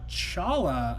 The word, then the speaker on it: challah: teacher devorah said I made cinnamon roll uh Chala I think is how you say this bread